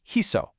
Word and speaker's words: hizo: But, the root needs a soft s sound. So, Spanish brilliantly swaps the c for a z to make hizo.